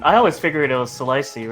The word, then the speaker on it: Selicy: Yeah, I know the actual way it's supposed to pronounce it from Eden Dev himself. He has stated that is Celicey. However, Oh.